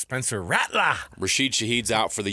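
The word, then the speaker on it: Rattler: tonight for the Saints uh I think it's pronounced Spencer ratler rased shahid's out for the year he's not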